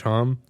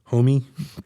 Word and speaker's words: Homme: Josh Homme? Homie?